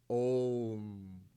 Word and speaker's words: Om: So the first one is A, the second one is U, the last one, deep sleep world, is Ma. You pronounce it together, Om.